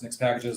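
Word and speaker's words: Nixpkgs: It's called Nix Packages. It's pronounced Nix Packages, looks like that.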